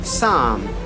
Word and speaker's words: psalm: not going to pronounce, we are not going to use that letter P, make it silent, make it mute. So here the example is psalm, cephalogy, cephalogy, pterodactyl, pterodactyl, pneumonia, pneumatic. So see here, combination of PS, combination of PS, combination of PT, combination of PN, combination of PN. Here in the all cases, P is silent, and you better understand